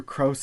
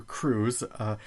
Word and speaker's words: Krause: when i listened back i've referred to peter krause as peter crews i've called cbs c